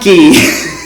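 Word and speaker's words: Nike: Greek word Decay Decay sounds similar to Nik ni i k e we pronounce it what Nik niki niki was the god of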